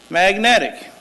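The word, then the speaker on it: Magnetek: is magnetic m-o-h-a-g-a-n-i last name m-a-g-n-e-t-e-k pronounced magnetic and i brought with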